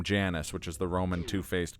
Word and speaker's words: Janus: Also, I don't think it's pronounced Giannis. They may pronounce it that way in the movie, but I do think it's a Latin word, so I think it's actually... It would be pronounced Janus with a J.